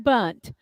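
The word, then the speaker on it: Bundt: to one please Steve thank you for saying bunt I appreciate it that's the way we always pronounce that we never called it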